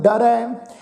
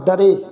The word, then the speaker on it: डरै: रखो, कवन कत डरै रारे दे उपर दुलावां दा पाठ है जी। इनू असी एक ला डरे इस ढंग नाल उच्चारण नहीं करना। रारे उपर दुलावां दा पाठ आ, इनू डरै इस ढंग नाल असी पाठ उच्चारण करांगे।